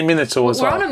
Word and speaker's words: Minotaur: It is Minotaur. But how can't you say Minotaur as well?